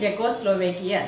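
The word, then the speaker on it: Czechoslovakia: దీనిలో చూడండి, ఆ వర్డ్ అనేది ఫస్ట్ సితో బిగిన్ అయింది, బట్ వీఆర్ బిగినింగ్ అంటే we are starting hour pronunciation with the letter Z. జా సౌండ్తో పలుకుతున్నాం, సి పలకలేదు. అంటే సి అనేది జెడ్కి ముందు ఉంది. మన రూల్ ప్రకారం letter జెడ్కి ముందుంటే we should not pronounce C.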